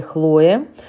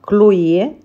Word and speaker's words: Chloé: от бренда «Си бай Хлое». Это на английский манер, а вообще это французская марка. Конечно, мы все знаем люксовый бренд «Клое» или «Хлое», как вы говорите в большинстве случаев. Но французы произносят именно «Клое».